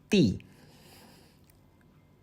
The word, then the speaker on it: 地: very different from its modern pronunciation the modern pronunciation for "the ground" is 地 dì 地 dì 地 dì let's review 天 tiān